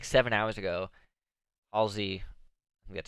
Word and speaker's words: Halsey: like I was done like seven hours ago Halsey that's how you say it really some music